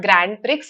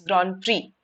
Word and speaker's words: grand prix: here as well right it is not grand pricks it's grand prix Right?